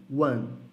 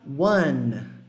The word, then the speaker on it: one: One hora de internações a gente tem a fama de falar esse número como One One só que é mais para Luana Luana deixa a sua língua lá no n fazer um movimento de tocar no céu da boca Wanna Rock Luana e